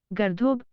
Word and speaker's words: गर्दभ: हम लिखते हैं गर्दभ और पढ़ते हैं गर्दोब, लिखते हैं सहे, पढ़ते हैं सोजठो।